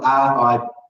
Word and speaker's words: ripper: Now, the reason he says it's a ripper, and you note we spell it R-I-P-P-E-R. So in Australia, anything that has ER on the end, we say ah.